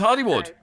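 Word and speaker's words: Holywood: holy warden County down but it's pronounced Hollywood it's different weird anyway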